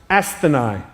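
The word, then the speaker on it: ἀσθενής: It's an interesting word because the word sick in the original Greek is pronounced astheni.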